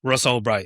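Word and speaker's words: Ross Ulbricht: Is that how you pronounce it? Albbright. Ross Albbright.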